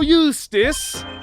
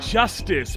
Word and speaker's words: Justice: Apollo Eustace. That's justice.